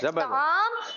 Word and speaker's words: طعام: طعام غلط تلفظ ہے, طاء پر پیش نہیں زبر ہے. طعام صحیح اور طعام غلط تلفظ ہے.